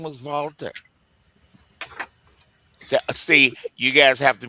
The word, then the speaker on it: Walter: So Walter guys in German is pronounced Valta.